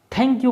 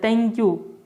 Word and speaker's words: थैंक यू: दोस्तों इसको मैक्सिमम लोग थैंक यू बोलते हैं, थैंक यू पढ़ते हैं इसको। थैंक यू नहीं, यह थे और तय के बीच वाला शब्द है थैंक यू।